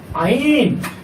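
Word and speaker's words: عين: এরপর হরফটা হলো আইন। আইন। এই হরফটা চিকন হবে, শ্বাস বন্ধ হবে এবং এটা মাকরাজ উচ্চারণ করতে হবে মাকরাজ 2 অনুযায়ী।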